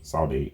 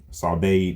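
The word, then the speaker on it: saudade: The Portuguese word sa sod sade s a u d a d e sade I believe it's pronounced that way is often used to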